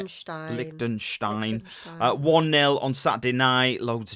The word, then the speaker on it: Liechtenstein: Liechtenstein.